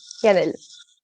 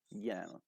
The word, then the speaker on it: Yanelle: Welcome, Yanelle. Am I pronouncing that correctly? Thanks Yanelle? for having me. Yeah, Yanelle. Yanelle. Yes, it's obvious.